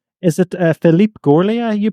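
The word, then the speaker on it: Philippe Gaulier: Is it Philipe Goria you pronounce his name? Your teacher? Yes, Philip Golier.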